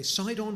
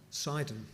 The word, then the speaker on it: Sidon: We have a project in, how's it pronounced, Shake? Sidon or Sidon? Sidon. But in Arabic it's called Sidon.